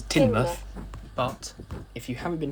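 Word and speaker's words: Teignmouth: through doris and timmoth which it turns out i've been pronouncing wrong because i always thought it was tame but no it is tinberg but if you haven't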